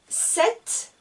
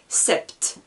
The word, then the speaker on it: sept: vous enregistrer 6 10 7 attention il y a 1 p mais je ne prononce pas le p je ne dis pas septe jeu seulement j'entends le thé 7,8 en france est